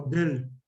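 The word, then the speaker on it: Döhle: llaman cuerpos de del se escribe doll pero se pronuncia como del medio raro Este es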